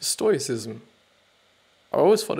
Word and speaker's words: stoicism: for you and other fields in your life stoicism that sounds sorry for interrupting again now I actually know what it is pronounced stoicism I always fall it's like stoic ism or